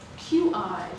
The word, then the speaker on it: qi: QI was added a few years ago. It's pronounced qi, and it's a Chinese word for kind of energy.